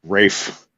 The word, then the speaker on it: Ralph: pronounced Lang I mean Ralph fins is Rafe so you know that's